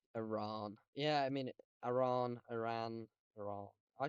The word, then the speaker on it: Iran: I mean, I got corrected by my parents on how to pronounce Iran. I still say it technically wrong. It's It is Iran, Iran. It's but Iran. It's Iran. I'm Northern, so it sounds too fancy for me to say Iran.